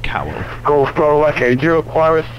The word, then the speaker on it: cowl: They're like cow flaps, like a cow in a field, but actually it's cow. It's actually pronounced cowl.